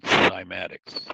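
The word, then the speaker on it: cymatics: if you look up on YouTube the word simatics, c y m a t i cs, simatics, and you look at how sound spell it again.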